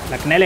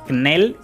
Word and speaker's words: Knell: Yo creo que la K aquí es como la letra G en la palabra gnomo. Inútil. Pero bueno, Knell, Knell, Knell.